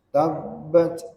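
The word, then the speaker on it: تَبَّتْ: auzubillahiminasyaitanirjim Bismillahirrahmanirrahim tabbat begitu cara membacanya ya karena huruf ba di akhir ayat itu bertasdid tanpa bertasdid pun kita mesti membacanya dengan diqolqolkan dipantulkan ya dan qalqalahnya adalah Qalqalah Subra maka tatkala bertasdid ya makal qqalahnya pun menjadi Qalqalah Kubro ya pantulannya dengan ditahan sesaat watab baik Allah subhanahu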